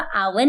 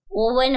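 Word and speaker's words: oven: है अरे छोटी मालकिन वह आवन नहीं होता ओवन होता है ओवन आपने गलत प्रोनाउंस एशन किया है क्या यार साक्षी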